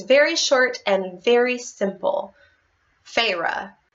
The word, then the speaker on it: Feyre: main character to have a name that's basically pronounced like the most used word in this book?